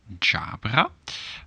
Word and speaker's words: Ġabra: click true well you get the phonetic so different independence for the pronunciation jabra part of speech well